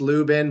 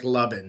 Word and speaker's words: Luben: And it's not spelled like it sounds. It's not, it's pronounced Lubin, but it looks like Lubben. So Lubben.